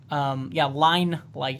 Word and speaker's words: Line Light: Line Light, spelled like line, like a line. Not like the fruit, a lime.